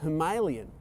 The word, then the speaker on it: Himalayan: When the Royal Enfield Himalayan was announced, or Himalayan as the Indians tend to pronounce it, was announced and